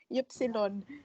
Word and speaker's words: Ypsilon: No, yung gusto mo, letter Y is Epsilon. It's long. And it's Yes. single letter But only. but not to worry, it's just the pronunciation is this long.